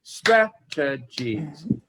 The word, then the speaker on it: strategies: everybody please repeat this the the stress is on the first syllable strategies okay summer who's next